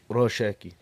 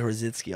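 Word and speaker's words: Rosický: I think you said his name wrong, but regardless of that, Rosicky. I think it's like Rosicki almost.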